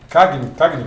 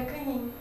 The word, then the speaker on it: Cagnin: Cagnin? É Canin. Canin? É, como se fosse NH.